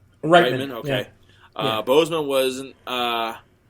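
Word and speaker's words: Reitman: director Ivan uh how you say his name Ritman rightman okay uh Boseman wasn't uh I'm sorry Boseman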